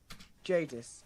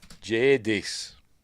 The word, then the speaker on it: Jadis: How does he pronounce it? Jadis. Jadis.